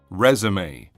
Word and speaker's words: résumé: 이게 부호가 달리 그냥 이로 바뀌어 버리면은 resume 재개하다라는 뜻으로 발음과 뜻이 달라지니까 이렇게 resume 함께 알아두시면 좋을 것 같네요.